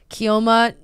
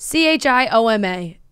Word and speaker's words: Chioma: Chioma Ninati? That sounded about right. C-H-I-O-M-A. Chioma, but if it was an Italian pronunciation, Chioma.